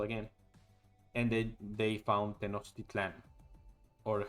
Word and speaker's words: Tenochtitlan: And then they found Tenochtitlan, or how the Americans say Tenochtitlan, but it's Tenochtitlan.